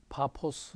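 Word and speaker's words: 파포스: 풀었습니다 전도하러 갔다가 어 바보라는 섬에서 파 포 스 으 라고 하는 게 더 정확한 발음이 줘 그 섬에서 서기와 바울이라는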